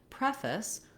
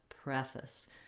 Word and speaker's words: preface: Okay, so when I'm saying preface, another strategy you can use is lengthen on that first syllable, preface. Try to be very quick and light and reduced on that second syllable.